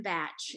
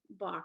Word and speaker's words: Bach: school for some reason they called him batch and it stuck and um so it's kind of funny i have some of my friends here who pronounce pronounce it like the german bach which if you all